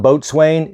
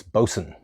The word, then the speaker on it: boatswain: Swain but you want to call them the Boson you might see that for a boson's chair that we use for hoisting somebody up the Mast it's not boatswain it's Boson if you're going over the terminology for ASA